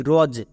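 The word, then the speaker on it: rose: ও এর long sound ওকার এবং এস এস এর জন্য সবাই এখানে ভুল করে দন্তস দেই বাট আমরা বর্গীয় জব এবং শেষে দেখো ই আছে সেই ইটা সাইলেন্ট তাহলে উচ্চারণ কি হলো আর ও এসই রজ একে আমরা রস উচ্চারণ করবো না আশা করি সবাই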